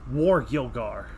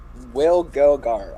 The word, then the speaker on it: Wargilgar: how do you pronounce his name? Wargilgar. Wargilgar.